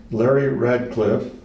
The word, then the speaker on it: Larry Radcliffe: the Chase County Community Center at Imperial with Larry Radcliffe. Did I pronounce that, Larry?